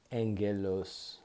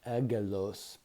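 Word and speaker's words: ἄγγελος: angel is in greek angelos angelos angelos it's spelt it looks like agalos but it's pronounced angelos angelos that's where we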